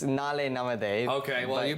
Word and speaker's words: Naalai Namathe: So the event is called Naalai Namathe. Am I pronouncing it properly? It's Naalai Namathe. Okay, well, you pronounce it much better than I do.